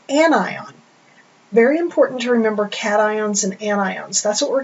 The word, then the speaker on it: cation: it becomes positive and we call that a cat ion okay pronounce that cat I if it gains electrons